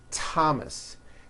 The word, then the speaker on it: Thomas: Although these next words and names are spelled with a TH, they are pronounced as if they were spelled with a normal T, like that. And these words are Thomas, Thompson, Teresa, Thailand, Thames,